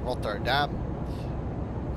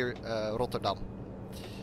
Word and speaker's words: Rotterdam: the hospital in Rotterdam, or Rotterdam, as the Brits would say. We say in the Netherlands we say Rotterdam, but I can presume it's a little bit hard to pronounce for people from the UK, or you know, from anywhere pretty much.